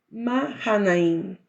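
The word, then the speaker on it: Mahanaim: nombre de Aquel lugar mahain porque no se pronuncia la h en el hebreo también y envió Jacob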